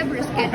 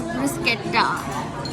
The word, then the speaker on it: bruschetta: This is the bruschetta I was talking about.